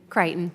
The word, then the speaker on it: Crichton: Crichton, is it Crichton or Crichton? I want to make sure I'm saying it correctly. Crichton.